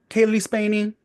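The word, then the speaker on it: Cailee Spaeny: Okay, can't even pronounce the second name either. Spaney girl, Kaylee Spaney.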